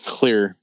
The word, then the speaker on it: Xclear: a r xclear NOP it's just pronounced clear clear clear no no